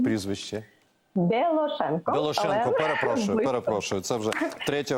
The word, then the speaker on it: Білошенко: Правильно наголос зробив в прізвищі? Білошенко. Білошенко, але...